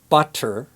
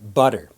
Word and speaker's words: butter: While Americans and Canadians will pronounce T like D, butter.